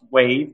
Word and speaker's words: WAV: so you pronounced this it's spelled WAV it's pronounced wave just like the wave in an ocean and it stands for